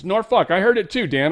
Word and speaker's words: Norfolk: She's like, "It's pronounced Norfuck." And I I was like I just I keyed in on the last part. I'm like, "Norfuck?" And she's like, "Nor Norfuck." And I'm like, "Norfuck."